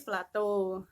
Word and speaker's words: plato: Yang berikutnya adalah dataran tinggi atau plato bacanya, bukan plateo ya, tapi plato.